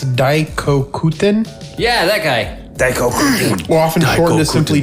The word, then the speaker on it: Daikoku: It's You pronounced that wrong. Daikoku. I was like, You said Koku. Diet Koku. Okay, so Diet Coke.